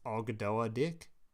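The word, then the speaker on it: Ogdoadic: It's pronounced Ogdoa Dick.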